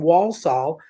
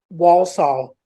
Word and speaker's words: Walsall: ridiculous like what this poor girl was from Walsall near Birmingham Walsall and I just couldn't say it right you